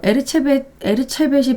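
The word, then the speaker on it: Erzsébet: 에르체벳이 발음이 좀 어렵네요. 엘리자베스 바토리. 그러니까 영어로 발음할 때는 엘리자베스 바토리, 헝가리어로 발음할 때는 에르체벳인데요.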